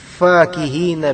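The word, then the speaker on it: فاكهين: 18 itu ada kalimat fakihina bimaahumbuhum ya Perhatikan kalimat Fakih kataihin fakihin ini bacanya agak mir dengan fqihin fikih tapi ini pakai Kaf dan pakai I pakai Kaf bukan pakai Q jadi fakihin apa makna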